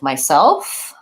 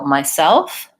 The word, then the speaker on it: myself: times I will hear people stressing the first syllable of these words they might say myself or himself and what we really want is to be stressing the word the second syllable self and having the first rule will be short so myself not myself you can try thinking about it as bah bah bah bah short long myself and then once you